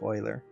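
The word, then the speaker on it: Euler: So what I can do is I can select these curves and go to curves oiler filter. It's spelled uler but it's pronounced oiler.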